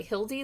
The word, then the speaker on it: Hilde: case ufo spotted by hildy with matthew liziak illustrated by joan louv reedshoff introduction hi my name is hildy it rhymes with bildy i may be only